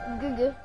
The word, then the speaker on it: Guga: Guga. That's how you say it. It's called Guga. You pronounce it Guga.